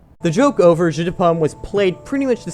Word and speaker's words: jeu de Paume: if you know French because it's pronounced pretty much the same as the phrase that means apple juice the joke over jeu de Paume was played pretty much